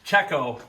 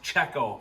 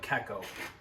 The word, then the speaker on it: Cecco: time to put the front bumper on from Keo racing czecho racing sorry uh I talked to the owner himself and he said it's actually pronounced czecho for all you who are wondering cuz I